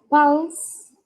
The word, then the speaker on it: pulse: En la segunda frase que está en la cajita y se pronuncia pulse, como si fuese una A, pulse, oximeter.